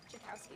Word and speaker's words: Jakowski: Jakowski. Jakowski, okay.